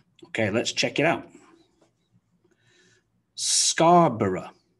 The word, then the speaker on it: Scarborough: let's check it out scarborough scarborough so the ending of the word g b-o-r-o-u-g-h it's not borrow or borrow it's often just reduced really simply down to one syllable of bruh so scarborough scarborough some